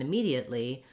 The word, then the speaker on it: immediate: the word immediate and immediately i recommend starting on that stressed syllable me because that will help you get the rhythm and the clear vowel so that would sound